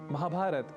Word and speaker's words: महाभारत: और हाँ, अंग्रेजी के उच्चारण का रामायण और महाभारत में उपयोग बिल्कुल भी न करें। यानी रामायणा, महाभारता ये भी हमें नहीं बोलना।